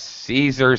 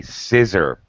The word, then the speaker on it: Caesar: think you mispronounce it here in the philippines they don't say caesar salad they say scissor salad would you like a scissor salad so it sounds like scissors you know very funny